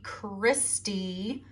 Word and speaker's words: Christy: so happens to be christy rhymes with iste spelt the same way coincidence i think not